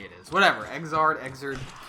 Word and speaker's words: Xrd: Xrd. It's like 3rd, but an X instead of 3.